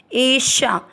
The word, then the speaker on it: एषा: पहला चरण एषा, श से षटकोण वाला है, थोड़ा तेज पड़ा जाएगा।